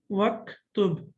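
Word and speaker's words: واكتب: Okay, now we know that the hamza of uktub is hamzatul wasl, and when we connect it, we don't pronounce it. We don't read it. So that's why we say waktub.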